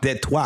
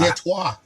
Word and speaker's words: Detroit: You got to understand, Detroit is actually pronounced Detroit. Detroit. It's a French thing.